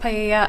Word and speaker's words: paella: that was going to be used to cook paella. I'm not sure if that's how you pronounce it. At the party. It's pronounced paella.